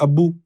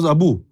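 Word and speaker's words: أبو: We pronounce it 'abbu' and in Arabic, it's 'abu'. So, our pronunciation of 'abbu' is incorrect, it is actually 'abu'.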